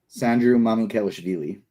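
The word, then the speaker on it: Sandro Mamukelashvili: And can you pronounce his full name? Sandru Mamukelashvili.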